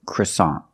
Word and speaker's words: croissant: that's French in English American English we say croissant croissant the first vowel is a short sound uh CR CR CR CR CR CR CR the second syllable is a like hot and stop so together CA croissant croissant is the American pronunciation of this word we see with the NT at the end the t is a stop T we don't say croissant we put the tongue up and stop the air for that t